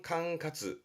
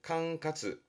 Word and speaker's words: 管轄: 관리 관자의 관할은 캉카즈. 캉카즈.